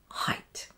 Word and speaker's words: height: And of course, the exception, there's always an exception. EIGHT in the word height.